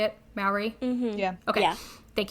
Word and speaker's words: Maori: Maori?